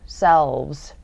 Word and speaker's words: selves: 자, self, V 발음, selves.